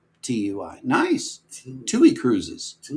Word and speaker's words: TUI: Tui is how I pronounce Tui.